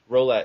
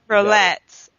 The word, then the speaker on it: Rollet: Rollet, is that how you pronounce it? Rollet, yep. Rollet.